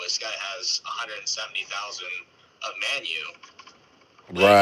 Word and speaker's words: Manyu: a meme called Baby Manu?" Yeah, it's baby manu. Actually, it's baby manu. I say Manu, but um some people say it like the Y is silent, but hey Shawan, uh put put the contract address.